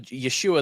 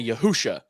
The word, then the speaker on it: Yeshua: people who are calling instead of saying Yahweh or any like kind of academically accepted pronunciation of the Divine name um they'll say you they'll say yahuwah and uh instead of Yeshua they'll say yahusha and I laugh and